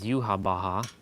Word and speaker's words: Yhwach: villain, his name is Yuhabaha. It's supposed to be Yahweh, but you know the way it's spelled, it's called it's YHWACH, but it's called Yuhabaha because that's how Japanese pronounce it.